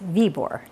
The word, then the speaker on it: Viborg: But back in Denmark, it's pronounced Viborg.